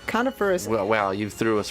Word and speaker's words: coniferous: Isn't that what a carnivorous... No, wait. Carnivorous? Carnivorous forest. Yep. But it's not spelled carnivorous. Coniferous. How do you say that word? Coniferous.